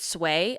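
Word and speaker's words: Suay: I believe you pronounce it sway. S U A Y.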